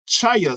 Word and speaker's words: chia: And it's pronounced chia seeds. Oh, chia seeds. Chia seeds, like those chia pets.